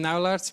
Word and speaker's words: Naulaerts: It's actually Naert, but it can be a bit tricky to pronounce.